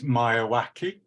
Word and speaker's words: Miyawaki: I've got it in my notes, of the Japanese biologist Akara, my pronunciation is Miyawaki.